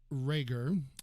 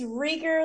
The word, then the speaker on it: Reger: again i'm joined by my dear friend rager am i pronouncing your last name right it's rigger like eager but it is any way you want to say now that you helped